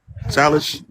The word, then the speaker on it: Salish: Um, Salish, is that how you pronounce it? Salish.